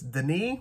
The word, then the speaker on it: Denis: I believe it's Denis with the S silent. I'm pretty sure.